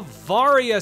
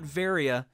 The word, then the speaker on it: Varia: varya suit at least i'm pretty sure that's how it's pronounced i hope it's not varia because i believe it is supposed to sound like variable which would be varia but i've always said varya the varia suit gives